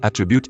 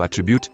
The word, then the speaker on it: attribute: word my worst peeve he says attribute instead of attribute which makes it a verb instead of a noun but if I correct